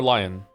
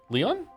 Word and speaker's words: Lion: Leon or Lion? Leon. Leon. Like a French Leon.